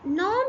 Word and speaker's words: gnaw: This silent here.